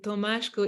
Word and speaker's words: Tomasko: holistic body worker but the way I pronounced your name tomaschko is because you have Hungarian Roots so maybe it wasn't